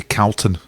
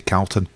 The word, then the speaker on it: Calton: I went up Calton Hill, and I always want to say Calton Hill because I lived in Glasgow and you say Calton. But I said Calton once in the pub and everybody said, no, it's Calton.